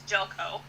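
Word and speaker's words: Željko: Just don't look at you can't look at the name to pronounce it. You just have to know that it's Jelko.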